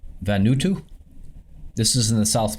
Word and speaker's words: Vanuatu: Okay, so I believe this is pronounced Vanuatu.